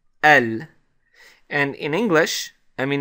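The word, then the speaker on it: ال: have the alif lam and this particle is pronounced el like that basically it's an alif and the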